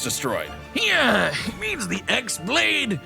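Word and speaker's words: χ-blade: yeah it means the x-blade it's just pronounced like keyblade even though it's just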